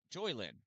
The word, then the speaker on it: Joylyn: Joylyn. Yeah, that's the right way to say that.